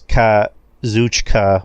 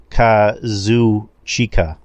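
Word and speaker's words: Kazuchika: when it's Lyra and Justin why do you always pronounce k kushika okada as kuchka when it's Kazu chica kuch yeah I don't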